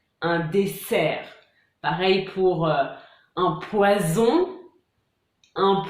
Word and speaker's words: poison: Pareil pour un poison, un poisson. Vous entendez la différence? C'est donc toute l'importance d'une bonne prononciation pour bien se faire comprendre et éviter des situations un peu gênantes.